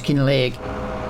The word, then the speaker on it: Kinlaig: So, pronounce it like that. So, it's Kin Leg.